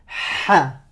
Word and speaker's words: ح: Alors, c'est quoi ce son? Ce son, écoute bien, c'est le son ha.